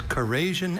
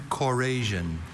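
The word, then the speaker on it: corrasion: There's Corasian and Corasian.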